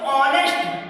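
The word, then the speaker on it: honest: consonant है ना ह लेकिन इसको करते हैं प्रोनाउंस करते हैं तो ऑनेस्ट है तो वॉवेल जैसा समझ में ए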